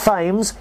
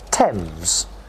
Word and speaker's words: Thames: come on you ready not fame's you say thames after the tone thames well done you weren't bad that